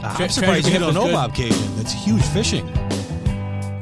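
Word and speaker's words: Bobcaygeon: heck yeah how do you how do you pronounce the name of this title Bob Bob cinjun Bob cinjun okay I'm surpris you don't know Bob Cajun that's huge fishing it's up north of Toronto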